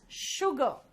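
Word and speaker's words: sugar: और ठीक है, नाउ see, this is नॉट स, हियर इट इज श, इट इज शुगर।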